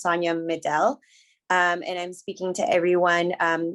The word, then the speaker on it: Sonia Medel: by she her and my name is pronounced sonya middle and i'm speaking to